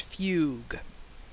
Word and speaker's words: fugue: Amnesia it's called dissociative fug yes F uu e is pronounced Fugue that's why people hate English although that's not an English word but dissociative Fugue is